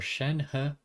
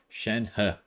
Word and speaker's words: Shenhe: going to be wishing for shen ha i'm pretty sure that's how he said it in the live stream he's chinese i'm not so i'm gonna assume that he is correct um in the pronunciation of shen ha but anyways this is